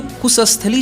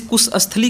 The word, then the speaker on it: Kusathali: अब ये जो कुशस्थली है इसका स्पेलिंग है KUSATHALI, यहाँ पे SA है, SHA नहीं है, यानी कि ये पाली नाम है। अब ये जो कुशस्थली जो बताया जा रहा